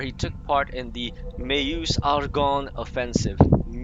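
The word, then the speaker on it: Meuse-Argonne: World War where he took part in the may use Argonne offensive pronounced that proper he is one of the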